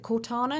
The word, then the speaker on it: Cortana: So one other thing that I did read about was they've got rid of, is it Cortana? Is that how you pronounce the name?